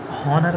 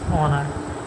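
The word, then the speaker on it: honour: हॉनर नहीं होता है, इट्स ऑनर, ऑनर, ऑनर, ओ से पढ़ रहे हैं।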